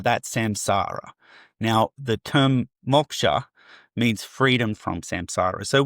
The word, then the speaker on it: Moksha: Well, the term, if you were Indian, you would say you would hard pronounce the O, so it's Moksha, but we definitely say Moksha because we're sort of lazy.